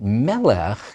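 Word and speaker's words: מֶלֶךְ: You expect a Hebrew noun to be accented on the last syllable, but melech is accented on the first syllable.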